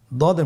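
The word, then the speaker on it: ض: দদের মধ্যে নুক্তা রয়েছে দদ হারাফটি উচ্চারণ করার সময় অবশ্যই তিন আলিফ টেনে পড়তে হবে আপনার সাথে বলুন দ আবার বলুন দ আলহামদুলিল্লাহ দদ হরফটিও মোটা হরফ মোটা করে উচ্চারণ করতে হবে দদের মাখরাজ জিহ্বার গোড়ার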